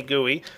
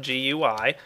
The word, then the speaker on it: GUI: Now, before I get into what they do, I want you guys to know I am pronouncing guey properly. Go look it up, it's actually pronounced guey, not gui.